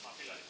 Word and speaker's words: Mapillary: Pau, Mapillary, ¿cómo se pronuncia? Mapillary.